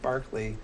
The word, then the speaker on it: Berkeley: the philosopher it's Barkley when you're talking about the the school it's Berkeley yeah so he can't